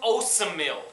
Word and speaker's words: Osemele: Osemele. That's how you say it. I always want to say oatmeal.